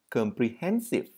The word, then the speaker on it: comprehensive: Âm V ở cuối. Comprehensive.